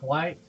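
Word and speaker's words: wight: there I have um a white which is spelled w i g HT and a gast in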